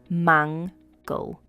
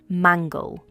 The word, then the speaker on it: mangle: The pronunciation is mangle. Mangle. The stress is on the first syllable, mangle.